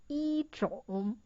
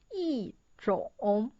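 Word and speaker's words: 一种: The original pronunciation is 一种. But the sound is not good. So it changed to 一种.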